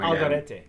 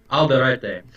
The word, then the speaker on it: Alderete: now you have to help me with the pronunciation of the brand name again. Alderete. Alderete.